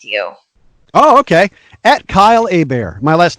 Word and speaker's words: Hebert: No, my last name's Hebert, like a bear is going to attack me. Kylehebert. It's pronounced Hebert because it's a Louisiana French name. So like Stephen Colbert, the Colbert Report, you know. So think of that. It'll help you remember. It's like, hey, bear's coming to kill me.